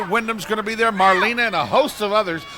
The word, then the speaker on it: Marlena: Center June 24th Marlena it's Marlena it's like one two three Marlena's just like the Wallflower song would you get people's